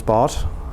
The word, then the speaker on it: Bartosz: So my name is Bart or Bart if you can pronounce Polish.